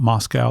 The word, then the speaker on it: Moscow: to pronounce Moscow, not Moscow. They take exception of that. So, you have to think Costco.